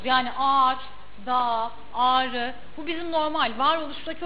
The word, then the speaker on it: Ağrı: Ağrı demiyorsunuz ki. Ağrı diyorsunuz. Ağrı. A uzuyor. Ağrı.